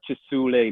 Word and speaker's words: Kisuule: wrong no no you you said it how people in uganda would say it right but i learned